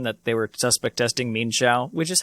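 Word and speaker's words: Mienshao: they were suspect testing mean shao which is how you pronounce it in um in but this is current mean that's how you pronounce it yeah i mean it's two syllables mean shall i i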